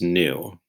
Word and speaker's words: knew: words are new and new the first new n-e-w means the opposite of old right you get something new from a store the second new that starts with the silent k is the past tense